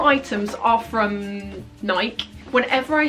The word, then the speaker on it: Nike: in the comments say it's not Nike, it's Nike. And I just wish to say that I know it's Nike, but in the UK, it's commonly pronounced Nike. I don't know why that is, it's just obviously a local dialect thing.